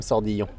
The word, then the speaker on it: Sordillon: Sordillon.